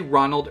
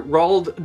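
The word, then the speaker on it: Roald: and so are the I did I say Ronald earlier rald doll I always pronounce that so wrong and then the movie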